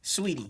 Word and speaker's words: Saweetie: Saweetie.